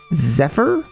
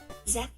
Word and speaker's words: Zephyr: Zephyr.